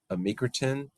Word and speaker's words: amycretin: And then the next medication and the last one that I'm going to talk about is amycretin. I think that's how we pronounce it.